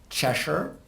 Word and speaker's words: CHSOR: services and outcomes research we would like to persuade people to pronounce this Cheshire and sometimes people do as in Cheshire cat if that helps you